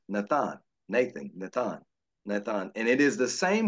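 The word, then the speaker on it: נתן: This comes from the Hebrew word pronounced Nathan.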